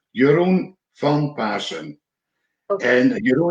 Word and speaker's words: Jeroen Van Paassen: it correctly yes yeah my name is pronounced your own fun person and you know it's